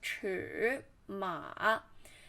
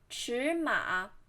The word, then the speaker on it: 尺码: you read the words don't pronounce it as 尺码 because there's two third tone and you should pronounce the first one in second tone 尺码 So this is the course today.